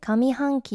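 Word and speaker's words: 上期: 하겠습니다 도미니 그래서 올해 미키 하면은 상반기 그래서 상반기는 한기라 안읽고 미키라고 읽는 거 잘 알아두시고요 그럼 상반기 말고 하반기는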